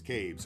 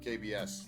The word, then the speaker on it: Cabes: One word rhymes with babes. Cabes. Okay, great. Thank you very much for that, because I called him KBS yesterday, so babes, Cabes. Got it.